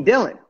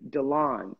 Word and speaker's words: Dilan: I my real name they call me Dylan and that drives me insane I hate that name that's just not a name for me you know so I thought okay let me spell it phonetically DeLonge and here dead lawn